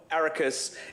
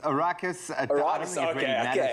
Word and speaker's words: Arrakis: line for me graham am i pronouncing that rightly ericus a raucous arrakis my friend it's a fictional planet